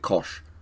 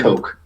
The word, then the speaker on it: Koch: name isn't it or is it kosh jim coke is that how you pronounce it i think so it's like koch right yes yeah but it's coke coke because there are oh